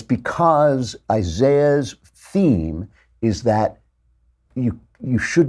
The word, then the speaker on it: Isaiah: And I want to talk about the book of Isaiah, or as the British say, Isaiah, because the British are just so annoying.